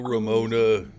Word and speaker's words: Ramona: It's pronounced Ramona. It's Italian.